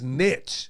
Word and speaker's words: niche: papers in it so go look it up and look how it's pronounced it is Niche pre-2019. yeah I don't know when it became nice now all of a sudden